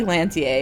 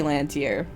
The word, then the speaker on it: Lantier: makes sense i'm trying i'm digging into my final fantasy guardian french pronunciations it would be lantier it wouldn't be land here so at least he